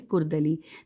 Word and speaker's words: کرد علی: لکھا ہے کہ محمد کرد علی، کاف سے ہے کرد علی۔ نیکسٹ ہے نفخ الطیب،